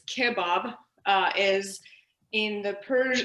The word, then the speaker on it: kebab: kebab berenji which um not to be pronounced kebab it's kebab uh is in the